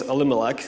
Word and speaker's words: Elimelech: The name of the man was Elimelech, is how you pronounce it.